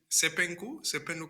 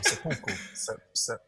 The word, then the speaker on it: seppuku: Because the thing is, I even knew about Sepenku, or Um, no, let you say it wrong. I can't say it right. Seppuku.